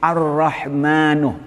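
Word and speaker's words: الرحمن: Nah, berarti Ar-Rahmanu, minnya panjang hanya satu alif.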